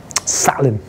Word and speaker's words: Zahlen: Zahlen.